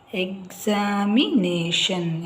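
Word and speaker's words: examination: ಇದೆ preparing for ದ ಎಕ್ಸಾಮಿನೇಷನ್ ಯಾವಾಗ್ಲೂ ಟಿ ಐ ಓ ಎನ್ ಅಂತ ಕೊನೆಯಲ್ಲಿ ಬಂದಾಗ ನೀವು ಶನ್ ಅಂತ ಓದಬೇಕಾಗುತ್ತೆ ನೋಡಿ exam M ಐ ಮಿ ಎನ್ ಎ ನೇ ಶನ್ ಎಕ್ಸಾಮಿನೇಷನ್ ಶೇರ್ ಎಸ್ ಎಚ್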